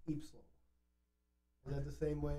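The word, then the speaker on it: ípsilon: You know how you say Y in Portuguese? How do you say why? Ipsilon.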